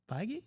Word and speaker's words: Feige: Wait, Feige.